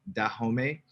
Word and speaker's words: Dahomey: Voodoo is a creolized religion forged by the descendants of Dahomeyan. Mm-hmm. I'm saying it wrong. No, it's Dahomey. Yeah, it's the Dahomey Empire, so Dahomeyan.